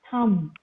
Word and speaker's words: thumb: Okay, the last B is silent. It is bomb, comb, dumb, land, climb, thumb, tum.